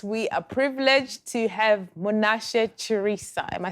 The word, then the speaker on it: Munashe Chirisa: honey and tonight we are privileged to have monash charissa am i saying it right ah uh no